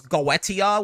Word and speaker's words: Goetia: And if he does Goetia, which is how you say it in the original Latin, if he does Goetia